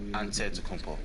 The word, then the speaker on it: Antetokounmpo: how you pronounce it you gotta say with the d so it's but in a greek way you say with the nt like antetokounmpo whatever you got just